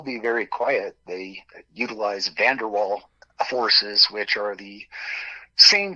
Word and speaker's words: van der Waals: I mean, it's van der Waal. The last word is spelled W-A-A-L, if you'd like to look it up.